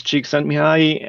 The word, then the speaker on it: Csikszentmihalyi: Yes, so if I can claim any fame, I can pronounce Csikszentmihalyi and spell it.